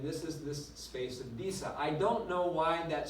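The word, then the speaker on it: Disse: now and I am an expert in German pronunciation and so it's visa not to say I just had to get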